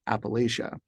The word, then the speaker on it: Appalachia: by my pronunciation of Appalachia. That is to say, the lay as opposed to latch and in the third syllable, and pa as opposed to pa in the second syllable.